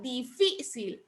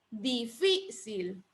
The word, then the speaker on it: difícil: ¿Dónde lleva la sílaba tónica? Incluso ahí ya está pintada la sílaba tónica. En la sí. En la fi. Entonces lo lleva en la última, penúltima sílaba. Fi sería la penúltima sílaba.